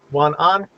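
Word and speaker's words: 晚安: So if you say goodnight, are you going to say Wanan? Wanan? Yep, that's how you say it.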